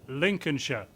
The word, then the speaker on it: Lincolnshire: to be more precise in the county of Lincolnshire actually Lisa it's pronounced Lincolnshire hello I'm and while Lisa